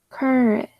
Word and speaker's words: courage: Now, yeah, but we don't actually say rage like rage or because the last syllable tends to be unstressed. Right? So stressing the middle syllable and courage. And AGE, at some point we say AGE, we often say edge instead of age, like voyage, encourage, courage, manage.